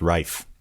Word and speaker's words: Ralph: but i'm he's welsh he's welsh because that's why his name is meant to be pronounced rafe oh really yeah um